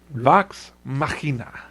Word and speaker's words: Vox Machina: I don't know how to pronounce it. Nope, that was spot on, Chase. Yep, Vox Machina. Vox Machina.